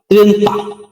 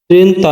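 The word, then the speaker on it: trenta: নভে বা নভে এরপরে রয়েছে 30 30 এর উচ্চারণ হবে ত্রেতা ত্রেন্তা ত্রেন্তা মানে 30 তো বন্ধুরা এক থেকে 30 পর্যন্ত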